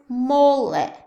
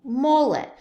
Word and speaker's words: mole: there's one of our words now this is Mollet say it with me mullet I know it's spelt mole but it's actually pronounced mullet a